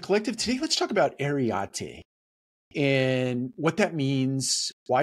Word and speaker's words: Areté: That's spelled A-R-E-T-E with a little above the E for emphasis.